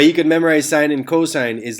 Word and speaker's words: cosine: cos or cos or cuz or whatever it's pronounced cosine so the cosine of angle a is the